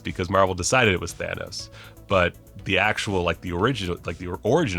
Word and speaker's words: Thanos: always mispronounces things, but I know a Greek guy named Thanos. And it breaks my brain because I always want to say Thanos when I'm doing these videos, but it's Thanos because Marvel decided it was Thanos.